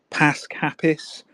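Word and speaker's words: Pasg Hapus: Pasc Hapus. So it's like Pasg, which means Easter, and then Hapus, which means happy.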